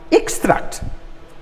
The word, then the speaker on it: extract: we have extract extra this is an extract now something you can see this as extract from what i've written but when i say please extract this from that information i am asking you to remove something so that's different from an extract to say extract then the next one